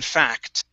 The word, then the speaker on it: fact: next is fact okay now pronounce that k uh the c c t sound in fact in fact good much better and